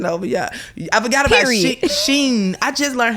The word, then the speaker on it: Shein: I forgot about Shein. I just learned how to pronounce that.